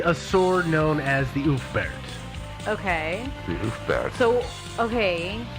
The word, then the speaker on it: Ulfberht: And for anybody that this might be a little confusing, the V is pronounced with a U sound.